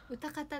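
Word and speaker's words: 泡沫: サタデーナイト泡ああ歌方だあ歌方って読むのあ失礼としましたこれで歌方って読むんだでも聞いた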